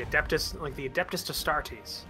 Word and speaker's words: Adeptus Astartes: Yeah, yeah, like the Adeptus Astartes. Yeah, That's how it's actually pronounced.